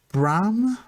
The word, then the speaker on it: Bram: have been grand but is it just bram bran graham yeah not graham b b-r-a-m so like a bit of a reference